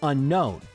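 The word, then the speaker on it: Unown: We pronounce it like unknown. There's two distinct N sounds. Unknown. We don't say unknown. And frankly, anyone who says that, it just sounds wrong.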